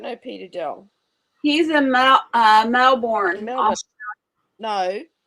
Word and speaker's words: Melbourne: He's in Melbourne. Melbourne. No, it's Melbourne. Oh my gosh. It's Melbourne. It's not Melbourne. It's Melbourne.